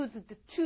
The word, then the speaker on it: used to: 자, 제가 발음이 언뜻 들어보면 네가 안 들릴 거예요. used to 이러지 않아요.